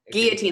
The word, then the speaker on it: guillotine: And that word is pronounced guillotine, by the way, just so you know. Guillotine, like it's French for chopping off your head.